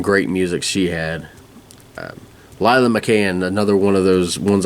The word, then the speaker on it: McCann: McCann, like an Irish pop, can.